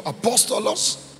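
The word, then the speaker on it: ἀπόστολος: The word apostle comes from the Greek word apostolos. Like full mouth. Like speaking full mouth.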